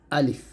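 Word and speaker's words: ألف: এখান থেকে বুঝতেই পারছি আলিফ উচ্চারণ করার সময় কি হবে না টান হবে না তো আলিফ উচ্চারণ করতে হবে তাড়াতাড়ি তাহলে উচ্চারণটা করেন আমার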